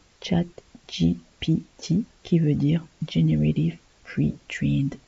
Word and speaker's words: ChatGPT: chat GPT alors déjà on le prononce à l'ex à l'anglaise chat GPT qui veut dire generative